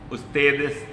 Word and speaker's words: ustedes: Or if it's a plural, ustedes, U-S-T-E-D-E-S. U-S-T-E-D-E-S, pronouncing in Spanish.